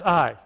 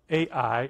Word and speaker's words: Ai: we've proven that this is the city of Ai, or I. The A is silent in Hebrew, so it's actually I when you hear. So you hear Ai.